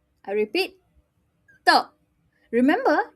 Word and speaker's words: 的: I repeat, 的. Remember, you're not going to blow this word because it starts with a D. So you pronounce it without blowing, 的.